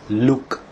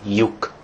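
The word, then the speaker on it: lyuk: So some people actually pronounce this as look instead of yuk, or write it as look instead of yuk.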